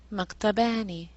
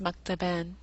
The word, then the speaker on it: maktabani: Add the dual ending and it becomes maktabani. Usually pronounced maktaben.